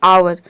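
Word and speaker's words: hour: मतलब होता है आदर तो इन सभी वर्ड में आप देख रहे हैं कि शुरू में एज आ रहा है और एज के बाद रूल के अकॉर्डिंग ओ आ रहा है अब देखिए यहां पे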